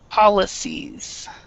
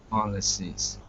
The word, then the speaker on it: policies: polies so we make make sure that you're pronouncing the s s policies policies perfect that's very good